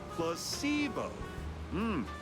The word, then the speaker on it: placebo: today repeat after me placeo the stress is on the middle syll placeo very